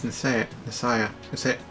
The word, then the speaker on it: Nicaea: Oh wait, it's Nisaya. I've already forgotten the exact pronunciation, but I know it's a soft C.